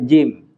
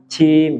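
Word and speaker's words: جيم: asal-asalan ya gitu jadi contoh misal tadi jim jim jim jangan kita Cim jangan jangan begitu jangan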